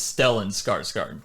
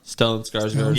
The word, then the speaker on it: Stellan Skarsgård: You got the name wrong, by the way. It's Stellan Skarsgård. Stellan Skarsgård.